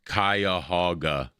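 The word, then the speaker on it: Cuyahoga: It's pronounced kaya hogaga park offers a diverse range of activities for outdoor enthusiast as well as culture vultures.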